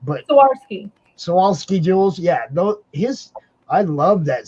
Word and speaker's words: Swarovski: What are the Krosnovsky jewels? I never say it right, but Swarovski jewels.